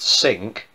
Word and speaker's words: Cinque: The Cinque Ports, pronounced sink, was the name given